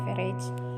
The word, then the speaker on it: average: ketik fungsi rumusnya yaitu everage average tulisannya Tapi bacanya everage Nah setelah itu kipas